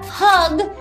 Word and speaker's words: hug: La primera palabra hug es con Vamos a decirlo juntos. Hug, hug, hug. Importante, no es un O, es un U. Tiene que decirlo aquí como en la garganta, ¿ok?